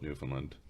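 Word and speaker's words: Newfoundland: zone they're not in the half half that's New Finland that's just Newland that's just new new land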